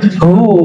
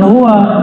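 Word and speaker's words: هو: aja Allahu hu ya Hu bacanya hu jangan Hua kecuali disambung panjang enggak Hunya lailahaillahu pakai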